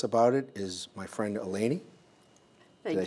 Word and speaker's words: Eleni: And here to tell us about it is my friend Eleni.